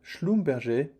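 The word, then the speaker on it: Schlumberger: brothers Conrad and Marcel schomber in the early 20th century so they both have a German written name but with a French pronunciation because they're coming from alzas Lauren and cor was at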